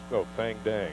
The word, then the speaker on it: Thang Dang: Thang Dang or Dang Thang? What is it? It's Thang Dang.